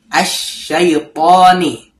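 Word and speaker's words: الشيطان: Kemudian di lafaz berikutnya asyaitani ada alif lam kemudian ada syin yang bertasdid. Ingat kalau ada tasdid di bacanya ditahan ya. asyaitani.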